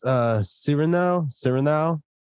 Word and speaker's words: Cyrano: it uh it's uh sereno sir now like as in serenade civil now steven now season two episode 23.